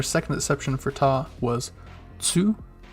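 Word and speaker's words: と: cheek and our second exception for ta was to sounds like two but the t and s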